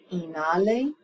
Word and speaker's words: inhale: tell them inhale exhale the H in the middle of the word is silent inale.